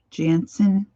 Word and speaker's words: Jansen: by the name of david jensen jansen it's spelled different j-a-n-s-e-n he's a wonderful artist